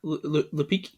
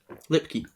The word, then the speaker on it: Lipke: Lipke. Lipke.